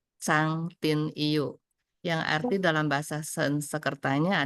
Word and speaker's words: Trang Tin Yeu: Jadi nama asli beliau adalah, bukan nama asli, sebenarnya tulisnya adalah Trang Tin Yu, tapi bacanya adalah Chang Tin Yu, yang arti dalam bahasa Sanskertanya adalah Bhiksuni Srada Maitri.